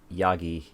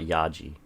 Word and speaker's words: Yagi: Yagi. Yeah, it's not Yaji, is it?